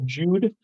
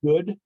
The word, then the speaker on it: Jude: it um it's called Jude or it's actually pronounced good but spelled like Jew j-u-d-e and it's really it's